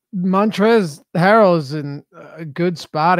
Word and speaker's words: Montrezl: of these turrets Oh Montrell Harrell montrezl harrell mantras all her Ezell going against Cleveland the L is silent montrezl there we go thank